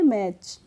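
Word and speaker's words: match: टी ए आते हैं तो हम टी का प्रोनाउंस एशन नहीं करते हैं तो इसको मैच नहीं पढ़ेंगे क्या पढ़ेंगे मैच ऐसे ही एटी सी है तो क्या पढ़ेंगे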